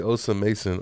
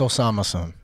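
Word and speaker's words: Osamason: really wanted to say osam mason or Osama son however you say it's Osama son cuz I said osam Mason the dude lik bro watch your mom say it right bro I was like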